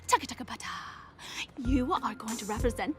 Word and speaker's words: TCTHTBT: Capital T, hashtag TBT, throwback today, or for short, TCTHTBT, bracket TBT, pronounced taka-taka-pata.